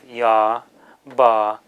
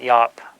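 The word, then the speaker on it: ཡབ: So the ba will be, as a suffix letter, a final letter in a syllable, will be pronounced like a b or a p. So here we would have ya, ba, yab, as in yabum. Some people will pronounce that yop, yop.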